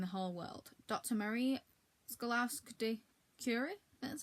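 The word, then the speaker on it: Skłodowska: Marie Scaluri.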